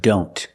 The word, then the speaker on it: don't: we see the word don't a lot of times the T and don't is silent examples I don't know